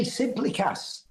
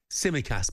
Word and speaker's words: Tsimikas: Jota, Nunez, Curtis Jones, Harvey Elliott, Conor Bradley, Kelleher, Endo, Kwanzaa, Tsimikas. I mean, any of those players would get into most sides in the Premier League. Did you say Simplikas? Tsimikas, pal.